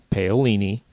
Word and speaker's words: Paolini: That's how you pronounce the name, Paolini.